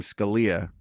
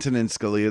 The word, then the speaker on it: Scalia: said Scalia because Antonio Scalia, the Supreme Court justice, it's pronounced Scalia. That's the Italian pronunciation.